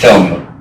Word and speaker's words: Tilghman: The spelling of this name, because it's pronounced Tilghman, there was a lot of different ways it could be spelled after you got here.